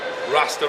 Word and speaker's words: Raster: here with Hollis from raster raster rhymes with Pastor great name uh they've